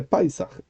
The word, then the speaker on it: Pesach: El Ashkenazí, que sigue la manera tradicional de pronunciar, dice, por ejemplo, Borujato en vez de Barujata. Dice Israel en vez de Israel. Dice Paisach en vez de Pesach.